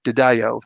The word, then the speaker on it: DiDio: were both like, "Oh, his name is actually DiDio." I'm like, "Oh, wow!" So there's been some people saying it right, and that was not me. I was like Didio, but what I actually happened? thought that's what it was for the longest time.